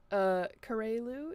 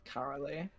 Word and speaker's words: Karaleu: I am here with, Karelu, is that how you pronounce it? Atomic? It's Karalu.